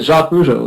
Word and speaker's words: Jacques Rougeau: Jacques Rougeau. That's how we say it here, and that's how English people say it.